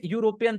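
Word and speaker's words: European: तो होगा ही नहीं, क्योंकि इसका प्रोनाउंसिएशन जो है या है, या यूरोपियन, तो अन तो होगा ही नहीं। राइट। ये दो आंसर तो यहीं से हटा दो, एन होगा ही नहीं, यूरोपियन के साथ ए लगता है। बी, क्योंकि वो नहीं, यूरोपियन जो है ना, उसका प्रोनाउंसिएशन यह है, तो उसके साथ एन लगेगा ही नहीं। भले ही उसमें वॉवेल्स यूज हुए हैं, लेकिन उसका प्रोनाउंसिएशन यूरोपियन है।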